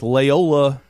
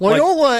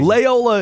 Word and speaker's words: Loyola: gotta call me out loyola and let's face it are not that far off mcafee and mccaffrey are not they're not the same thing layola is hilarious it's a pronunciation issue now i'm being blown